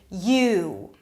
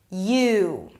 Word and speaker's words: you: It's longer. I can hear you. I know you just said that. You, right? you. So it's longer as if I'm adding a W here, right?